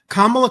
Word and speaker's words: Kamala: Now, Jerry, McDonald's had reportedly turned Kamala down. Am I pronouncing her name right, or am I being No, you got Kamala.